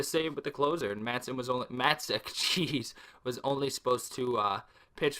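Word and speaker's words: Matzek: So I kept saying Tyler Matzon. I completely apologize. That's my fault. It's Tyler Matzik. I could be pronouncing that wrong, but it definitely does not end in an N. It ends in a K.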